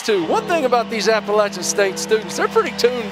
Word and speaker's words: Appalachian: are that I know how to say the word Appalachian. Thank it you. It is Appalachian.